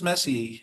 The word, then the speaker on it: Messi: How often does Messi uh how do you pronounce it? Messi or messier? Messi. Messi. How often does he get a is he successful with a shot on goal?